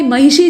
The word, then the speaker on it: महिषी: लेकिन भाई महिषी जो लिखा हुआ है इसका शुद्ध उच्चारण अगर आप करना चाहते हैं तो आपको मूर्धन्य श बोलने के लिए अपनी जबान को अपनी मूर्धा में ले जाकर ट्विस्ट करना पड़ेगा, मोड़ना पड़ेगा, यानी आपको थोड़ी सी कठिनाई होगी, नहीं तो शुद्ध उच्चारण नहीं होगा, है ना?